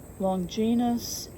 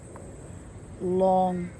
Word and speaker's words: Longinus: Longinus is pronounced, got that wrong, Longinus. Longinus. Well, I was comparing it to longitude and latitude.